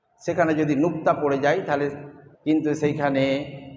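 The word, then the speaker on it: تاء: উপরে দুই নুক্তা হলে তা। জীবের আগা মানে জীবের ডগা, আর উপরে দুই দাঁতের গোড়া সামনে, উপরে সামনের দুই দাঁতের গোড়া, এই জীবটা ওই গোড়ায় লাগাতে হবে, তবেই যে তা উচ্চারণ হবে।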